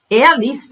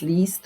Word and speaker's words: liest: And now we go to the third one, and that's turns into IE. and it's pronounced as a long E. So, ich lese Zeitung, I'm reading a newspaper, or I read newspapers. Ich lese Zeitung. Liest auch Zeitung.